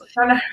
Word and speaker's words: Oshana: possibly speak to this person from Ohash, Oshana, Oshana. Did I pronounce it well? Someone Shana. was saying Oshana. Yes, Oshana region.